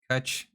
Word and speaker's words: Kutch: So do buy sandals, discount code Kutch, spelled like clutch, but with a K and no L. So not at all, really, like clutch.